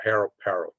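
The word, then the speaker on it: Parot: It's not spelled the same as Ross Perot. It's pronounced Perot, but his name is spelled like Parrot, P-A-R-O-T. I don't want to call him Parrot, but he's apparently they pronounce it Perot.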